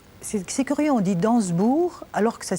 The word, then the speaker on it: d'Ansembourg: vous êtes né c'est c'est curieux on dit danssebourg alors que ça s'écrit dansembourg oui mais pas d'explication non c'est